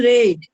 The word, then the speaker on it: read: is being then we have to use red the spelling will be same only the pronunciation is different a book is being